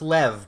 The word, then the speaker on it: Lev: Well, it's Lev, but it's the Americans pronounce it.